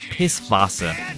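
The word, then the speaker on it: Pisswasser: The Beer song though it should be pronounced piss Vasa it translates to piss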